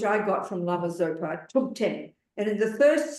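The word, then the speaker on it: Thubten: got from Lama Zopa to 10 and in the first syllable H I'll explain this in the letter t h u b it's an aspirated t t it's not th it's t tub was one of the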